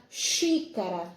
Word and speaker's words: xícara: Vamos lá, a palavra xícara, né? Xícara é uma palavra que se escreve com X, mas ela tem o som de CH.